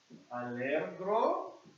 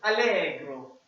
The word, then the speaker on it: allegro: Allegro. Almost. This one, the R is actually silent. So you spell it like this. You pronounce it like this. Allegro.